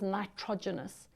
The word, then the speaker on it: nitrogenous: a Nitro genus base when a word is really long in life science break it up into syllables so you're going to say Nitro genus and remember the nitrogen because it makes proteins or it is protein based and genus it's the genes so and the fancy way of saying it is nitrogenous but if you say nitrogenous it's A1 because you will know how to spell it and that's